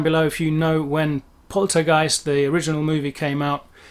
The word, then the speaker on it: poltergeist: is a poltergeist um the pronunciation in english is pretty much okay we say poltergeist poltergeist german would be poltergeist pretty much roughly there the um er